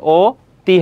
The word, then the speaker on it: অতি: অতি, তাহলে এখানে অ রয়েছে, অ এর উচ্চারণটা কী হয়ে যাবে? ও হয়ে যাবে, তাহলে কী হবে? ও তি হবে।